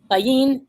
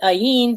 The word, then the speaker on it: ayin: it as half empty like the letter in elf elif it's a silent letter it is said that ayin sees but does not